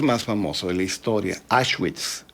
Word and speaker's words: Auschwitz: famoso de la historia, Auschwitz, o Auschwitz, que se pronuncia también a la alemana, la doble U o W la pronuncian como B o como una F suave, y ahí pues le